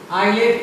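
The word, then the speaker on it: islet: इसको भी हम लोग आइलेट पढ़ते हैं और आइलेट का मतलब भी छोटा द्वीप ही होता है। यहाँ भी आई और एल के बीच में एस था और एस साइलेंट हो गया है।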